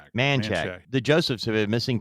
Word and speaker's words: Manchac: They concentrated their search along I-55 between Monok and I 10. Is that how you pronounce that? Manshack. Manchack.